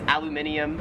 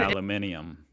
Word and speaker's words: aluminium: call it in america aluminum oh aluminum people pronounce aluminum weird here in australia it is aluminium 10 aluminium i kind of like that i actually like